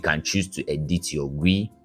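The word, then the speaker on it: gwei: for ethereum and it's measely used to calculate gas fees right um the correct pronunciation is G and you know like I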